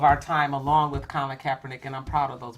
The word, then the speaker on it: Kaepernick: this what is this name how do you pronounce his name Kaepernick Colin okay and and I want to Evan